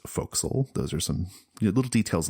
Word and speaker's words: forecastle: it's pronounced bosun and the word is spelled a forecastle but it's pronounced fo'c'sle those are some little